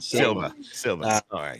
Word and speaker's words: Sylva: uh from western north carolina and you did pronounce it right silva yeah and what is that near matt what